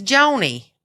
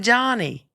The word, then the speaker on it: Joni: It's Joni. Johnny? It's not Johnny.